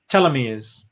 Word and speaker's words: telomere: Telomeres.